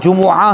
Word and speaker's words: جمعہ: پاک میں آیا وہاں جمعہ ہی بولیں گے میم کے پیش کے ساتھ۔ اب یہاں پہ وہی